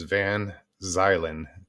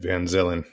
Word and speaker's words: van zylen: are wondering how it's my last name is pronounced it's van zylen van zylen because i know some of you read van zillin i heard it gary